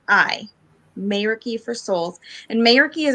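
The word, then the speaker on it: meraki: up and running yet but it is uh mayra key let me get it i want to make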